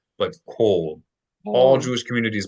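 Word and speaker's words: כל: Anytime you say all in Hebrew, you're going to pronounce it in the historical way. So not kal, but kol.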